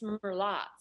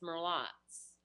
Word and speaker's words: Merlotte's: to correct you, but I forgot how it's Merlotte. I forgot. You know, I think you pronounced it. I was afraid that was the case. I think it's because I don't drink. And if you want to do it with the slight bayou twang, it's Merlotte's.